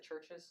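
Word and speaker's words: Chvrches: throughout the whole way I don't know how to pronounce this do you just pronounce it churches yes just her just just churches okay churches has three new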